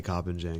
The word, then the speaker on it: Koppenjan: don't even know anymore I just say cop and Jen because that's what I've been saying my whole life but I I used